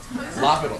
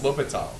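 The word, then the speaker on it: L'Hôpital: Oh yeah, it should be pronounced hospital. Hospital. Yeah, I think that's right. Yeah, the L is silent actually. It's just hospital. Yeah. Lopital. Maybe it's Lopital. No, it's L'Hopital.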